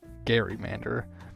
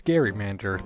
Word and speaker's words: gerrymander: This backstory is also why I've been pronouncing it as gerrymander throughout this whole video, instead of the more common gerrymander. I don't think there is necessarily a right or wrong pronunciation. I think people get too worked up for stuff like that. But I plan to always say it as Gerrymander from now on in honor of the original monster that once bore its name.